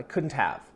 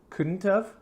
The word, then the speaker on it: couldn't have: for pronunciation couldn't shouldn't couldn't have shouldn't have and it's interesting because when I say this in American English quickly I almost sound like I'm saying the letters UV like of or kind